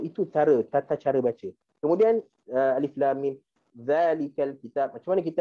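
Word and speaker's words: الم: maka kita tahu cara bacanya adalah dengan alif lam mim. Okey. Dan kalau selepas daripada alif lam mim ni tak ada nombor ayat, maka kita pun baca alam.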